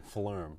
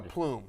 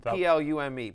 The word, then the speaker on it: plume: it is in fact you're saying Flume no no plume okay did I say Flume it's the Australian I said Flume plume okay it's a peacock's plume p-l-u-m-e plume is the correct uh a pronunciation there more importantly Matthew Stafford's